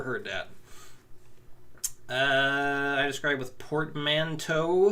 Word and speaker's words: portmanteau: I describe with portmanteau. I think it looks like it's spelled like bow.